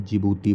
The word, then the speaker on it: जिबूती: जिसका नाम है जिबूती यहां डी से स्टार्ट हो रहा है लेकिन इसका डी साइलेंट रहता है इसे हम जिबूती बोलते हैं जिबूती ठीक है तो